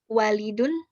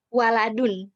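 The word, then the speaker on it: وَلَدٌ: Ahaza walidun. Naam. Salah. Harokat lamnya yang salah. Waladun. Betul. Apakah ini anak laki-laki?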